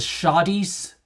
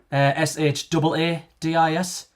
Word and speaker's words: shaadis: The Shadies, Shaadis, but not shadies.